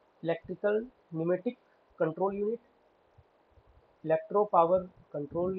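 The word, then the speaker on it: pneumatic: electro प फ electro न्यूमेटिक प साइलेंट है न्यूमेटिक कंट्रोल यूनिट नेक्स्ट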